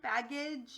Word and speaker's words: baggage: real word baggage so this is a schwa right here because it goes from an a sound to an uh sound baggage it has a weird sound so when a word